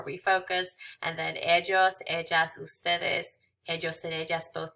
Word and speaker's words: ella: Remembering that ella is pronounced ella and we don't say the L.